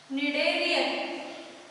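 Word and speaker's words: Schneiderian: मग यासाठी या पर्टिक्युलर चेंबरमध्ये ऑल्फॅक्टरी पार्टमध्ये निडेरियन, स्पेलिंग थोडं वेगळं आहे याचं बघाल, SCHNERDERIAN, निडेरियन. प्रोनाउन्सिएशनमध्ये आपल्याला हे काही येत नाही आहे पण स्पेलिंगमध्ये आहे SCHNERDERIAN, निडेरियन मेम्ब्रेन.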